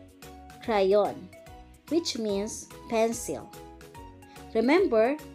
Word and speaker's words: crayon: which means pencil remember it is a hard pronunciation if it is in front of an a o u or a consonant so c is pronounced as k okay again crayon let's listen yo for